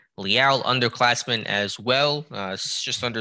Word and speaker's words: Leal: I know it looks like Leal, but it is pronounced Leal.